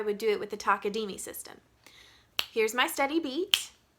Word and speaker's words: Takadimi: In the Takadimi system, you would start with saying that this is ta, because it takes up one beat and you have one syllable, ta. The next part would be ta-di, because there's 2 parts, and the final one would be takadimi, which is the name of the whole system.